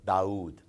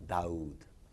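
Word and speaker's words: داود: So when you say David, it's a sharp D. But when we pronounce the same name in Arabic, it's Daoud. It's not Daoud, it's Daoud.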